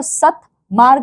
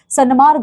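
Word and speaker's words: सन्मार्ग: उसी प्रकार से त और न है तो सत मार्ग है तो सतमार्ग नहीं होता। सनमार्ग हम कहते हैं।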